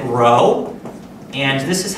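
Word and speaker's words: rho: symbol that you've seen this is a Greek letter they pronounce it row and this is how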